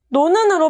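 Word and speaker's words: 놓은: 노은은 발음하면 노는으로 발음되죠?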